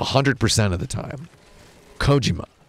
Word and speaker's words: Kojima: person says Hideo Kojima that's not right at all I lived in Japan for 10 years you jag-offs trust me I'm pronouncing the name correctly wait how'd it have my supposed to pronounce it Hideo Kojima I'm not gonna do that that it's just how bad it would just be racist its Kojima Kojima Nakajima Kojima Americans have this sick